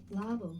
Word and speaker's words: Lobel: and illustrated by Arnold Lobell. I realized he has one of those names with a bunch of different pronunciations. Lovel, but thankfully this handy website has author recordings. Hello, I'm Arnold Lobel.